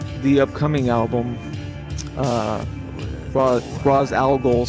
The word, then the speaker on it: Al Ghul: in a corner with the but yeah, you'll hear on the upcoming album uh Ro alol spelled like the star a l g o l um trans you know